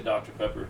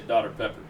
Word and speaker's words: Dr Pepper: yeah water and uh like we say Dr Pepper they say daughter pepper pepper there's there's certain